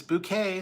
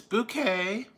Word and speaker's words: Bucket: That's Miss Bouquet, spelled Bucket. It's Bouquet. Or Target.